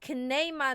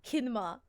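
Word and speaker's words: Kineema: Oh, so you pronounce it Kinema, not... I don't know why I thought you pronounce it Kinma.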